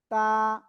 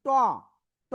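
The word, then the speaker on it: ت: লাগান লাগিয়ে জাস্ট এক আলিফটা নিয়া সিম্পল ভাবে উচ্চারণ করবেন তা তা ঠিক আছে আশা করি ইনশল্লাহ সবাই বুঝতে পেরেছেন সবাই একসাথে আনমিউট হয়ে জোরে বলেন তো দেখি কেমন করেন তা অনেকেই কিন্তু উচ্চারণ করতেছেন ট ট বলা যাবে না আবার এটা বাংলায় যে ত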